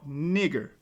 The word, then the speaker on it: Niger: Simeon, that was called Niger, or Niger, because in Latin it would be Niger, not Niger. That's that British tongue talking. In Latin, the N and I make the ni sound.